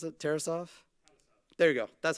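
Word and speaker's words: Tarasov: there also another one something to think about terasoft that's how you pronounce it terasoft there you go that's how you pronounce it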